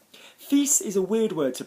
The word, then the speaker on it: fils: Fils, son, we're pronouncing the S, okay?